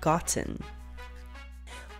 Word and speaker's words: gotten: So instead of pronouncing the T sound as a T, you will pronounce it as a stop T, which is an abrupt stop in the airflow.